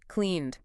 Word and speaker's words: cleaned: So we have plaid, walked, cleaned. The big insight here isn't just memorize this. It's don't stress the ending. Just let it disappear into the word.